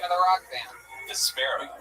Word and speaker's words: Vespera: Vesper with an A at the end. Wow, that's a Vespera. Vespera. Everything with me is very hard to pronounce. My name, my band name, it's wonderful. So it's V-E-S-P-A... P-E-R-A. Vespera.